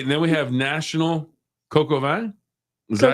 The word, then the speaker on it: coq au vin: Okay, and then we have National Coq au vin.